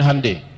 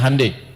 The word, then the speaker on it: Hyundai: bikin Honda dia bikin handundai ya ya Hyundai saya tahu bahasanya dibacanya hundai ya Apa saja Jepang